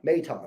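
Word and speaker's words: Maton: can he he's one of them Phil Mayton Mayton that's how you say it right here's Ty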